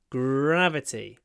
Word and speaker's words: gravity: gravity on the moon try to hold your R gravity gravity the gra gravitational